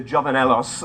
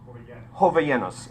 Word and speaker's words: Jovellanos: And this is de Jovenelos. I'm sure please correct me on the pronunciation of, how do you say that? Jovellanos.